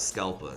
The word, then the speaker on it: Scalpa: which is average level, and PA, which is pronounced ash. That spells Scalpa.